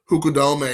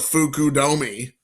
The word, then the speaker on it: Fukudome: Not Mazuzaka or Fukudome instead of Fukudomi.